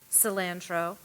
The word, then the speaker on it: cilantro: I first pronounced it cilantro. It is also pronounced cilantro.